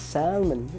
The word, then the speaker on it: salmon: It's not salmon, it's salmon.